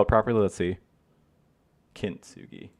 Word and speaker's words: Kintsugi: Kintsugi. I thought it was Kitsugi.